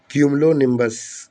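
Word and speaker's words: cumulonimbus: इन्हें बोलते हैं क्यूमिलोन सॉरी कम ओलोनिनस मैं शायद प्रोनाउंसिएशन गलत बोल दी मैंने यहां पे। क्यूमलोनिबस क्यूमिलोबस आप सही बोल रहा मैं क्यूमलोनिबस तो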